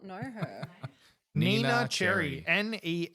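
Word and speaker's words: Neneh Cherry: developed uh inspired by the Swedish pop artist Nina Cherry was she cute I do not know her Nina Cherry NE n e h you like how synchronized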